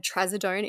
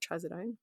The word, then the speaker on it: trazodone: It was also revealed that Jason had tradone in his system. Is that how you say it? Trazodone. Yeah.